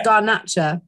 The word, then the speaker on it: Garnacha: you pronounce that grantaxa well it's actually got grenache well it's garnacha but um obviously it's in chilean rather than than spanish so yes grenache but garnacha would be the spanish and and therefore this